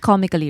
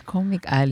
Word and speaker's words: Comic Alley: It's pronounced Comically, right? No, it's Comic Alley. No, it's Comic Alley. Comic Alley. As in Comic store. Alley, the store. I thought it was like Comically.